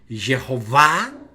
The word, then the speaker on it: Jehová: En algunas ocasiones recae en la penúltima sílaba, es decir, para que entiendas la idea, esta sería la última sílaba, ba. Por eso se dice Jehová.